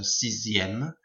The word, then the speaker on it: sixième: Pronunciation, the X here and the X here becomes a Z sound, so sixième, dixième, and then be careful of 9, it goes to neuvième and not neuvième.